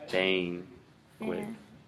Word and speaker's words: banquet: You're saying like ban, but banquet. Say a. What's the difference between these two words? It's I don't know what it is. I'm sorry, I'm bad with these pronunciation. So that AE is it at as in cat, right?